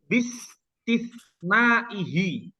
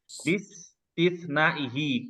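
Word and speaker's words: بِاسْتِثْنَائِهِ: Di sini bacanya bistisnaihi. Ya. Bistisnaihi. Kenapa kok i? Karena dia diawali dengan huruf jar.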